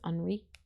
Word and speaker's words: Henri: It sounds weird because I'm saying Henri instead of Henry because it's the French pronunciation. It's got the little I on the end, so it's Henri.